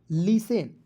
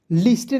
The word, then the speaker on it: listen: ठीक है, ली, और टी को इसमें साइलेंट करना है। ठीक है, ई से एक ही मात्रा, और ली से और एन का लिखना है ना, लिसेन, लिस्टेन नहीं पढ़ेंगे, लिसेन।